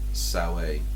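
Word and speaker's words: Samhain: Cult of thorn and they come around on sa which is the pronunciation of Sam which becomes Halloween somehow um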